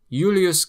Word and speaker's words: Julius: Mar adakum the Adriatic sea J is always like a Y sound. The Romans didn't have J though they generally had an I and a vowel in place of it. Take for example Ulus Julius Kaiser Julius Caesar yaka ala yakta est.